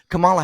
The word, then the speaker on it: Kamala: Kamala Harris did I say it right yeah Camala Harris about the border and do you know